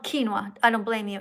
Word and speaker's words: quinoa: plant-based foods like beans, lentils, tofu, and I can't really pronounce that word. I'm so sorry. No, that's called quinoa.